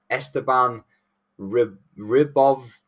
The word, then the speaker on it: Esteban Ribovics: Terence McKinney versus Esteban Ribovics. That's how you say it. You gotta just add it like from Eastern Europe, and then you get it perfect.